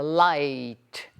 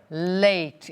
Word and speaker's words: late: Quando ela fala late, ela fala light, light. Essa pronúncia é das pessoas mais humildes, mais simples. É uma pronúncia que não é bem aceita e a gente deve evitar.